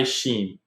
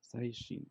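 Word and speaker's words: 最新: So, how is it pronounced again? Or how do you say? Saishin. Saishin. Okay. Yeah. Saishin.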